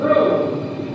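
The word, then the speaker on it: רום: sense, but figuratively, as the Hebrew term for held up is R-U-M, not the kind of rum that comes in a bottle, even though that would probably hold some things up too. It's pronounced room, and it means to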